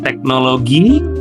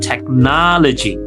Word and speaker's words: technology: So, mulai dari sekarang jangan teknologi tetapi technology.